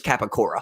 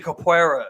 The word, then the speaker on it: capoeira: Like, he needs to use his capicora. I believe that's how you say it. Where it's like that's where they put their hand down and they do like the spinning kick. The capoeira.